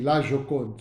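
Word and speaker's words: La Joconde: a laon j o c o n d laokon so whenever you see lokon immediately you should know that it refers to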